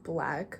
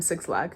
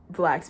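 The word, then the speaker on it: 6lack: in all the time I call him six lakh because like it's spelled that way but like there's just nothing he can do to make me say black like in my mind it's six lag but anyways um like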